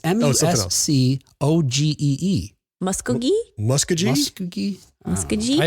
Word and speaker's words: Muscogee: I thought it's not Muskegee. The Muskegee Airmen? Can't see it. No, it's not Muskegee. It's Muscogee.